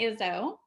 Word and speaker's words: Izzo: Okay, guys, I have Amy Izzo. I've always called you Amy Izzo. If am I Yeah, pronouncing it right?